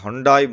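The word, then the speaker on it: Hyundai: அதே மாதிரி இந்த ஸ்டாக்ஸ் டு வாட்ச் ஸ்டடி பர்பஸை பொறுத்த வரைக்கும் இந்த ஹண்டாய் மோட்டார்ஸ், ஹண்டே எப்படி வேணாலும் நீங்கள் ப்ரொனவுன்ஸ் பண்ணலாம்.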